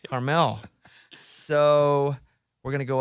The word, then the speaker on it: Carmel: We're going up to Monterey, How do you pronounce the other one? Carmel? Carmel. Carmel. I kept calling it Carmel. Yes, that's what I was doing. I was telling my wife, is it caramel?